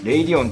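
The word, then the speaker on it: Radeon: ますまあこのねー amd のレイディおんという読み方もねまぁさまざまあるんですけどこの動画ではとりあえず 0 リオンという言い方をしますいうはこの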